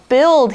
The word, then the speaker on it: build: takes that long now build here is a verb that is not quite spelled like it sounds it's spelled bu IL d but we don't say that you we just say build and if you want